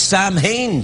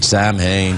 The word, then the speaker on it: Samhain: Oh, yes, it's Sam Hain today. It is. Good old Sam. Sam Hain. Yeah. It's pronounced Samhain.